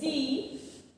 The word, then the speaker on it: the: তো দি কেন উচ্চারণ করলাম, দি উচ্চারণ করার কারণ হচ্ছে এরপরে ও আছে, ও একটা ভাওয়েল। তো ভাওয়েলের আগে যখন আমি টিএইচইটা লিখি সেটার উচ্চারণ হয় দি, যখন কনসোনেন্টের আগে লিখি তখন উচ্চারণ হয় দ।